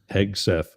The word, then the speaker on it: Hegseth: Is that how you say it? Hegseth? Hegseth. Yep.